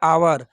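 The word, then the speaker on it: hour: देखिए यहाँ पर लिखा हुआ है आवर। आवर जो है इसका जो प्रोनाउंसिएशन है अ से लेके अह तक है। जब किसी वर्ड का प्रोनाउंसिएशन अ से लेके अह तक होता है तो उससे पहले जो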